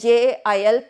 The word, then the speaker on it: gaol: jail means prison or jail gaol and jae-il pronunciation is the same here again male Hale